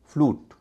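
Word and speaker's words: flute: हो रहा है म्यूट एफ एल यू टी यह भी वैसा ही शब्द है यू से पहले क्या है एल ल की ध्वनि है ल क्या जोश चार में है आप देखिए जोशीले चार तीसरी ध्वनि ल की है तो उसमें उच्चारण हो रहा उ इस तर क्यूट वैसा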